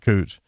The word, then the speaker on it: Couch: Yeah, I swear to God, it's spelled couch, but everybody there pronounces it Cooch.